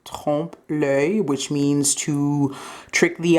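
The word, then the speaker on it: trompe l'oeil: if anyone was unsure it is pronounced home play which means to trick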